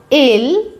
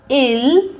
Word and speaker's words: ils: Il est. Elle est. Nous sommes. Vous êtes. Ils sont. Elles sont. Il for masculine plural. Elle for feminine plural. Here we pronounce il, not ils. Ils sont.